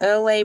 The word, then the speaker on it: LA: We are 45 minutes into Freestyle Thursdays with your girl LA, pronounced like LA, like the city.